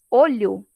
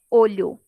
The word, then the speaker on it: olho: Então, se eu pronuncio com o fonema o fechado, é olho, é um substantivo. Se eu pronuncio com o fonema o aberto, olho, aí já é outra palavra, seria aí o verbo olhar.